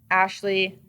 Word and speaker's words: Ashleigh: yeah just Ashley but my name is spelled weird so it's Ashley a-sh-l-e-i-g-h so all right